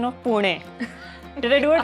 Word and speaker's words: Pune: She actually is the person who taught me the true pronunciation of Pune.